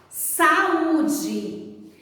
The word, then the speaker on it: saúde: Saúde. Vamos separar as sílabas dessa palavra? Fica assim, sa-u-de. Observe que depois que você separou as sílabas, as vogais estão em sílabas diferentes.